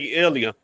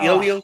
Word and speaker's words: Ilia: Um, for $3, I'll take Ilia. That's how you pronounce his name. Toria. Ilia.